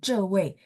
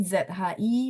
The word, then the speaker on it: 职: Kalau sekilas ada saya dengar bacanya jadi 这位 ya. 职 jadi ZHI bacanya 职位 ya, 职位 2, 4.